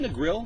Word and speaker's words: Negril: Is it Negril? Negril. Negril, Jamaica. I always wonder if I pronounced that wrong or not. I don't know. You pronounce it the American way. I'm sure it's pronounced differently in Jamaica.